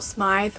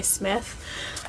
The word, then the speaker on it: Smythe: People are saying Rachel Smythe, which I would never have thought to pronounce her last name like that. I always would just say Smith.